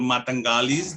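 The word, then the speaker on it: mataqali: All right, so this is the story, and the landholding units are often called Matangalis. That is how we pronounce it.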